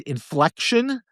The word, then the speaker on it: Infleqtion: So the company's name is Inflection. It's spelled INFLEQTION, and the ticker symbol is INFQ.